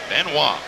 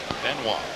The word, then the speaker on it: Benoit: Benoit. That's the way David wants it, so that's the way we'll pronounce it. Benoit.